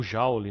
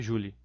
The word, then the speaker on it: Joule: gente não comentar do experimento de julie ou jauli né mas a pronúncia correta seria julie o equivalente mecânico do